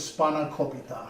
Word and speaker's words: spanakopita: The way you pronounce it is SPANAKOPITA.